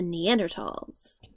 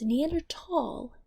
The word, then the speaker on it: Neanderthal: Valley in German is pronounced "tall", and therefore the H is silent. So it is neander- tall and not neander-thals.